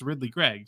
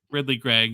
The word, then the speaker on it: Ridly Greig: So I'm on YouTube, I'm looking up ESPN highlights, and sure enough, it's Ridly Greig. So, hey, much to do about nothing, even though it's spelled all funny, Ridly Greig.